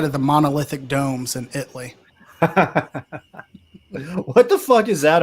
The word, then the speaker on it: Italy: You're going to spell the town Italy, but it's pronounced Italy because this is Texas.